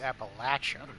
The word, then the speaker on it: Appalachia: You know it's pronounced Appalachia, right?